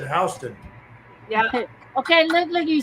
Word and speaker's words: Houston: Yeah, it went There's a Houston and Georgia, but they pronounce it Hston.